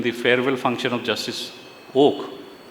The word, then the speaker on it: Oka: I had made a statement in the farewell function of justice oak written oka but pronounced as oak organized by the bar council of Maharashtra and Gua in Pune that we need bold and courageous judges.